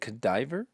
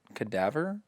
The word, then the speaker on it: cadaver: never actually heard of is it cadiver cadaver cadaver cadaver like a body sorry i've been saying